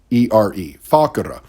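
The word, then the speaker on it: facere: the thick part actually comes from a word is spelled f-a-c-e-r-e fakura meaning to do or to make so literally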